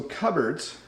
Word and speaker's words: cupboards: that we have cupboards so cupboards notice it's not pronounced the way it looks in a cupboard you'll